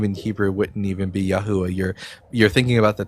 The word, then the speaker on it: Yeshua: name that still exists to this day is Yeshua. No, that's not true. Yes, that is how you pronounce the word Yeshua.